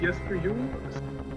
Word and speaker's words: Jesper Juul: you really shouldn't trust me with how to pronounce his name. Yes, so my name is Jesper Juul.